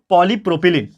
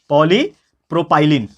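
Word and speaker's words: polypropylene: एंड चौथा जो हमारा टाइप का थर्मोप्लास्टिक है, वो है दोस्तों पॉलीप्रोपिलीन। पॉलीप्रोपाइलिन, प्रोपिलिन बोल दो, प्रोपाइलिन बोल दो, आपका प्रोनाउंसिएशन जैसा रहेगा आप बोल सकते हो।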